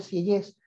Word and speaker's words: Sieyès: Y aquí es donde entra en juego este caballero, Emmanuel Joseph Sieyès, el famoso abate Sieyès. De nuevo te pido me corrijas la pronunciación de mi francés, Gabriela.